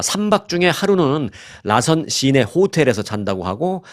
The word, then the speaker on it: 라선시: 3박 4일 동안 북한의 라선 시를 관광하는 여행 상품을 판매하고 있습니다 뭐 우리가 남쪽에 우리 대한민국 사람들은 나선시 하는데 북쪽에서는 이제 라선시 라고 하죠 그 같은 북쪽 발음 식으로 하면 라선 시를 방문합니다 자이 여행사는 북한으로부터 해외